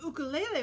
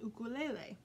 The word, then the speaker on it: ukulele: meat true story the ukulele was brought to hawaii by the portuguese before nineteen hundred when hawaiians saw it they called it an ukulele pronouncing the you like the oo in mongoose in the hawaiian language